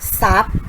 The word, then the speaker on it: ทรัพย์: และ พุทรา อินทรีย์ และ ทรัพย์ ค่ะ เห็น ไหม คะ จะ ออก เสียง เป็น ส โซ่ ทั้ง หมด เลย นะ คะ เรา ไม่ ออก เสียง ทร ค่ะ อ่ะ ก็ จะ ไป นะ